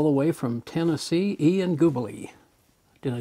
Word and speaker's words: Gubeli: And today we have a gentleman, a young man, all the way from Tennessee, Ian Gubeli.